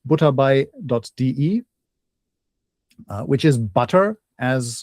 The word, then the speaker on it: butterbei.de: Uh and the site is again German pronunciation butde uh which is butter as in the English spelling bi.de.